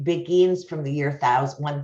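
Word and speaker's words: Beguines: about them and you is am i not pronouncing that right yeah begins we were saying it wrong you can see earlier interviews that we call them big queens and then the british came and they're like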